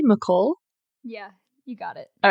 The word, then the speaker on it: McCall: Am I pronouncing that correctly? McCall?